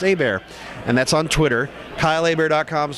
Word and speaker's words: Hebert: again spelled h-e-b ERT like Hebert but it's pronounced a bear and that's on Twitter Kyle a bear calms